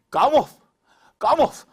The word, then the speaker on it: 가모프: 교과서에 가모프인데 프는 묵음으로 한다 그랬죠, 선생님이? 가모프.